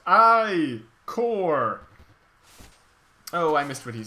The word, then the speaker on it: ichor: That's pronounced I-core!